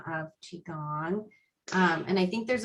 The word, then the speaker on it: qi gong: it is um i i typically will spell it q i space gong g-o-n-g but um sometimes the chi part is spelled c-h-i and then there is